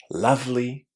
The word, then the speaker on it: lovely: And yet all the words that contain the word love are also going to be pronounced with that short a sound. So it's going to be lovely, loved, loving, beloved. For more advanced students, all of those words are pronounced with a short a.